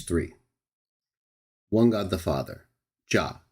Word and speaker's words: Jah: Some people say Jehovah or Yahweh. We try to accommodate any pronunciation that people are more familiar with and prefer to use, but we still advocate for the best least disputed of which is ja in English. Ja, yah in Hebrew, basically the same in Greek or ya.